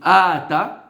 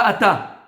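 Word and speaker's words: אתה: Il faut prononcer et il faut appuyer sur le alef. Pas ata. Ata. On avait dit milera et miléel.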